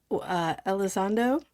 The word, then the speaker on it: Elizondo: Uh, Elizondo, did I say it right?